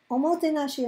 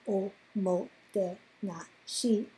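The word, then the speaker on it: おもてなし: It's popularly believed that a speech on Omotenashi clinched Tokyo's bid for the 2020 Olympics. You can listen to the speech here and you will know why I pronounce each syllable separately.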